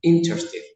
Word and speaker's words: interesting: In my opinion, it was interesting. In my opinion, it was interesting. Interesting es una palabra larga, pero la ER no se pronuncia, la que está en la mitad.